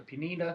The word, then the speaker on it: Pineda: that they got for penina i think that makes their rotation that's how they say his name penina which is funny the